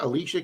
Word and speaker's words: Alicia: I remember her saying it's pronounced like Alicia Keys.